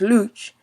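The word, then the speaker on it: Łódź: the second biggest city in poland is lobs pronounced luch in poland and fun fact luch also means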